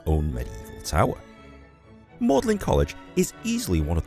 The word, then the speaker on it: Magdalen: Even though it's spelt as Magdalen, it's pronounced Magdalen here in Oxford, as this is the Old English pronunciation of the word.